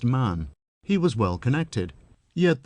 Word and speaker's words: Mahon: He had a Roman nose, a snow-white, long beard, and his name was Mahon, but he insisted that it should be pronounced Man.